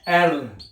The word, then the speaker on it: R: आर को आपने पढ़ना है एर क्या पढ़ना है एर जैसे कहते हैं एरर हैं क्या पढ़ना है एरर एरर एल और